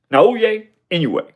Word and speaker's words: Naoya Inoue: And I I said that that I pronounced it correctly. Naou anyway.